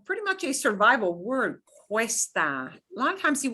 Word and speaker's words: cuesta: The two vowels are going to be both pronounced. They're going to kind of slide together, but it's going to wind up sounding kind of like a W in English.